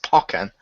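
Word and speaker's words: Pokkén: with pokemon or pokken i believe it's meant to be pronounced pokken tournament why because the guy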